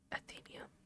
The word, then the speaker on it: Athenaeum: I am due at the Athenaeum.